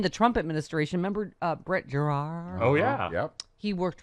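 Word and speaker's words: Giroir: Remember Brett Gerard? Oh, yeah. Yep. He worked with Dr. Furrier and Dr. Huffar, Yes. as you recall, on the COVID task Yeah. Yes. force. Pardon me, Gerard. Gerard. Gerard. It's French.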